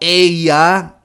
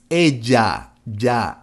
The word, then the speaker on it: ella: Again, that ella is not a correct pronunciation. It's ella, ya. Like saying jar, when you say the word in English, jar, it's the same sound.